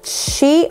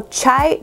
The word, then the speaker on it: Chi: Y se trata de este de aquí, de la marca Chi o Chai, como ustedes lo pronuncien.